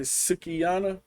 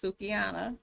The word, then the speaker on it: Sukihana: Daniels this is uh is it sugiana is that how you say it I'm reading it like that yeah I believe it's pronounced sukiana okay she say men are